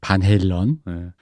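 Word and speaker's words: Van Halen: 바넬렌이라고 보통 한국식 발음으로. 반 헬런.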